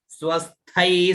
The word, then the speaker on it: स्वस्थै: दुर्गे स्मृता हरसि भीति मशेष जंतोः स्वस्थै, आधा स व आधा स और थई, तो स्वस्थै स्मृता। थैस, ये आधा स है यहाँ पर, वो भी साथ में उच्चारण होगा, ठीक है ना।